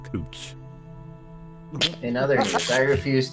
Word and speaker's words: Couch: We have a street in Portland that is spelled Couch and they call it Cooch.